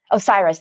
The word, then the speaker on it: Osiris: I looked up the pronunciation. Osiris, thank you.